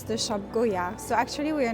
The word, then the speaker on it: Goyard: So it's pronounced Goyard. So as often in French, we don't pronounce the last letter, so we don't pronounce the T at the end. This is Goyard.